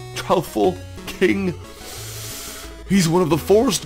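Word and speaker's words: Troupple King: of the trle king half trout and half half Apple pronounced like mouthful tful King he's one of the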